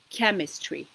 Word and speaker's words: chemistry: Mostly, the words where ch is pronounced k and that are of Greek origin, they are closely connected with science. For example, chemistry.